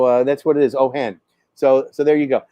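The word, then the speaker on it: Ojen: bars so uh and the j is pronounced like an h because it looks like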